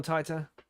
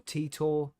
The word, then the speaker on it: Titor: in the chat no John tighter or tea tour it depends it depends on the punctuation the pro pronunciation you know t-o-t-i-o-r God damn t-i-t-o-r is how you would spell his name John Tita so have you heard